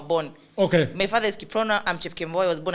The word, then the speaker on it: Kiprono: How do you pronounce Kiprono in your language? You just say Kiprono. It's Kiprono.